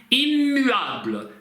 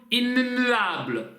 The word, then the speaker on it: immuable: Будьте внимательны, здесь нет носового звука в приставке. 2 М, 2 Н исключают чтение носовых, поэтому М. Immuable. Immuable. Здесь на самом деле двойная согласная. Immuable, мы ее не произносим отрывистыми двумя согласными, это как одна, получается. Immuable, immuable. Мы немножко чуть-чуть задерживаемся губами на этой М, получается immuable.